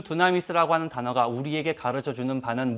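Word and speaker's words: δύναμις: 헬라어입니다. 두나미스라고 읽습니다.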